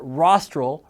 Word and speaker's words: rostral: tail or you can remember that rostral rhymes with nostril so the rostral is